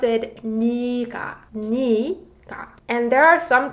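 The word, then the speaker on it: 네가: So 네 can also mean yes, but when 네 means you, it's read 니, not 네. So this one is read 니가, 니가, not 내가.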